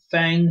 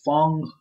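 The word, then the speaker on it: F.A.N.G: There's another character named Fang or Fong, whatever you're gonna pronounce it, but it's F-A-N-G to me, so it's Fang.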